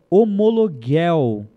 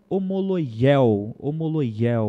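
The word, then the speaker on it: ὁμολογία: confessarmos no nosso pecados essa palavra no Grego é homologuel né ou homologia o certo na verdade é homologia é a pronúncia que no grego que significa não negar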